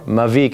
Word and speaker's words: Mavic: just by going to Mavic calm or Mavic if you want to say it correctly